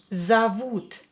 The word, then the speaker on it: зовут: Как тебя зовут? Зовут. Here O is not stressed, so pronounce it as A.